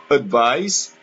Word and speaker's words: advice: Donc, la différence qu'il y a entre le verbe advise avec S prononcé Z, advise, et le nom conseil, un conseil, advice, avec un C, on prononce S.